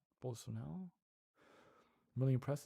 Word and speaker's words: Bolsonaro: Yeah, so you don't pronounce the R, right? So it's Bolsonaro. Bolsonaro.